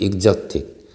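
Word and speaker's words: Exotic: 이거 보통 우리가 엑서틱이라는 말을 많이 쓰는데, 보통 정확한 발음은 익서틱, 스마일, 스프링송 센세이션이라고 해서,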